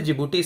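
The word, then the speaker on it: Djibouti: जिबूटी Somalia और Ethiopia जिबूटी की spelling D से शुरू होती है बट डी साइलेंट होता है इसको जिबूटी पढ़ते हैं हम तो चार कंट्रीज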